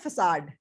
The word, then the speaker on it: facade: इसकी pronunciation है facade.